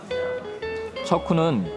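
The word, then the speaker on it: 车库: 척쿠는 차고의 중국식 발음입니다.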